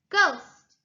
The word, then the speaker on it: ghost: Ghost, ghost. The H is also silent.